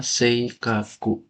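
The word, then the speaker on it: 性格: Ini bacanya Seikaku.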